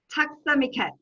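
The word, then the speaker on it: tack så mycket: thank you very much for sparing your time takstamiket did i pronounce that right you did it very well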